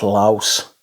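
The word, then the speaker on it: Lavs: Anywho, yesterday, Saturday, I wore something different but similar in vibe, and this is Filippo Sorcinelli's Unum Laus, spelled Labs, L-A-V-S, but it's pronounced Laus.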